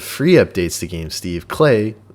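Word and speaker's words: Klei: updates to games steve clay it's pronounced like play vancouver based in developer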